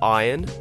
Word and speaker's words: iron: uh Wash oil theater iron yeah we don't pronounce the r in Iron salmon caramel I know